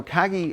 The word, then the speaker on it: Kagi: Kagi.